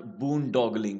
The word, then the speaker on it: boondoggle: कई बार गवर्नमेंट्स बड़ी बड़ी चीजें अनाउंस करती हैं तो उसको कहा जा सकता है इट इज नथिंग बट बूनडॉगलिंग, की ऐसे ही अनाउंस कर दिया करने के लिए।